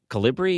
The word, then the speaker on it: Calibri: It's Calibri.